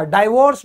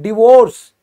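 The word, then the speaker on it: divorce: है डायवोर्स ठीक है इसको डायवर्स मत बोलो गलत है डायवोर्स नहीं होता यह होता है डिवोर्स की उसका मेरा डायवोर्स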